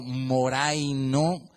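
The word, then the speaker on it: μωραίνω: Pero me llamó la atención que cuando uno escucha la pronunciación es prácticamente como si uno dijera moreno, como moreno.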